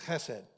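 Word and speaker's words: חסד: And the word is hessed. If you're into Hebrew, there's a little kind of uh to pronounce it correctly, you have to kind of clear your throat a little bit. It's hessed.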